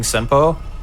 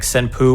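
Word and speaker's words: Senpou: game first came out, they were like mispronouncing Senpo, and they would say like Senpu or Senpao, but it's like there's an NPC who literally screams it in your face if you talk to her. So whenever I'd hear anybody like say it wrong, in my head I always hear the old lady going Senpoji.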